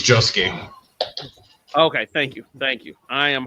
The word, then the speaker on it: Josuke: Or did I pronounce that right? Probably not. It's Josuke.